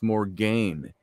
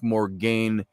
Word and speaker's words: Morgaine: And when you think of Morgan Le Fay, or Morgaine in her book, Morgaine is the Welsh pronunciation for Morgan.